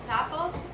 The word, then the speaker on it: Dopplelt: We are here with Erin, Rachel Dopplelt. Did I pronounce it correctly?